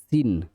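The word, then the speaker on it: scene: মাস্কাল, এখানে সব C silent letter. এই যে যতগুলো ওয়ার্ড সব সি সাইলেন্ট লেটার। মাস্কাল মানে পেশি, সিন মানে দৃশ্য, সেন্ট মানে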